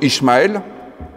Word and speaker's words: Ismaël: dans ce passage biblique le nom Ismal que l'on prononce en hébreu Ismaël est composé du mot